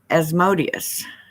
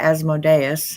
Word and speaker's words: Asmodeus: read on it um asmodius or asmodeus however you want to pronounce it is specifically mentioned